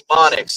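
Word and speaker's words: mnemonics: And it's spelled M ne O N I CS. Monics.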